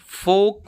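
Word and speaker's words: folk: में L silent होगा फोक में फॉल्क नहीं फोक होता है अब हम पढ़ेंगे एन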